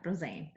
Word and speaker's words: Roesseinart: Yeah, Roesseinart.